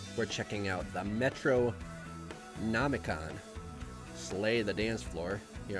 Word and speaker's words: Metronomicon: Metronomicon, that's how you say it.